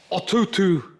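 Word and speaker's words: Atoto: He is putting in, or wants us to put in, an Atutu. Hello? An Atutu. It's spelled A-T-O-T-O.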